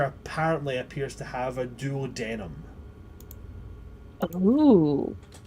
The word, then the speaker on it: duodenum: This creature apparently appears to have a duodenum. Ooh. Or, I suppose, the correct pronunciation, a duodenum. Or duodenum, sometimes.